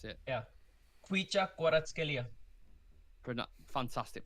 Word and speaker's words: Kvaratskhelia: Kvaratskhelia. Fantastic pronunciation.